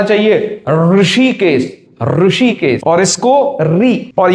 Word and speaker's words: ऋ: इसका उच्चारण है री, री, इसका है री, री, ये विपरीत है, हाँ, अभ्यंतर प्रयत्न में अंतर है।